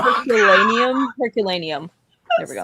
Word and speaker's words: Herculaneum: Herculeum. Not only did I say that wrong. Herculaneum.